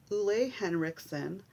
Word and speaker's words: Henriksen: And then I have this Henriksen. Yes, that is the correct pronunciation of his name.